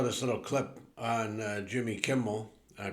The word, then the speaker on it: Kimmel: see I saw this little clip on Jimmy Kimmel I pronounced the name right this time Kimmel um